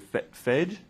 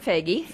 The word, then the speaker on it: Fagey: I'm going to pronounce her last name wrong, I'm sure, is it Fage? It's Fagey, and I chair the City of San Diego's Community Forest Advisory Board.